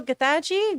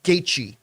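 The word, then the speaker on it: Gaethje: Leon got it done baby and still also getachi good luck pronouncing that thank you I know it doesn't spell like it it's pronounced gaichi spelled like it at all though yeah phonetics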